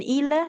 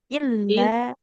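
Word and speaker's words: إلا: di kata illa ada tasdid yang ketinggalan tadi Bu ya bukan ila tapi illa.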